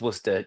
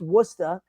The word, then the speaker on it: Worcester: Our It's pronounced Worcester.